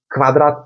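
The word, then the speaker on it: Quadrat: Eğer öyle bir eee öyle bir durum varsa o zaman bunu sanki arkasından ı harfi geliyormuş gibi okuyacaksınız. Yani kı kı mesela kare harfindeki kvadrat gibi. Kvadrat kvadrat gibi.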